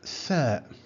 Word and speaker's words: ث: Now let's move to tha. Tha. th. It's pronounced in English th, just like the word three, three.